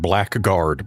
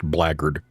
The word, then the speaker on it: blackguard: It's spelled as if you would pronounce it blackguard, but it is pronounced blackguard.